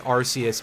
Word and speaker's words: Arceus: It might be Arceus, but I've always been pronouncing it as Arceus because of, well, for a start, the fact that it's pronounced as Arceus in Japanese, and the fact that